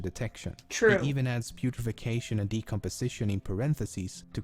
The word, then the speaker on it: putrefaction: The correct pronunciation and spelling of it is actually putrefaction.